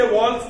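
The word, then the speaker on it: villi: Projection which are called, मैं वही pronounce करूंगा जो मेरी टीचर प्रोनाउंस करते थे, आपको विलाई बोलना है विलाई बोलो, मैं विली बोलूंगा.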